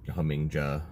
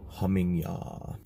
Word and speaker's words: Hamingja: bit of a refresher that pronounced it humming JA I won't say who they are anything but don't be that guy you know like so many good video you don't know how to pronounce the damn word just remember the the J and Germanic and Nordic languages pronouncing a whi similar to how in like Spanish it's an H humming yah it's commonly associated with